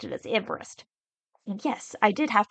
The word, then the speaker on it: Everest: name was actually spelled like Everest he just pronounced it as Everest and yes I did have to write the